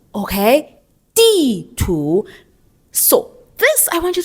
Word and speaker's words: 地图: The word would be 地图, all right? 地图, 地图, okay? 地图.